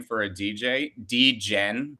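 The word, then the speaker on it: Djen: name for a dj d-gen but it's spelled d-j-e-n and it's a girl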